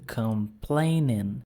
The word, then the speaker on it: complaining: aí o reclamar comigo complaining complaining ó lá como tem o in eu vou até o n só não pronuncio o g vamos repetir a frase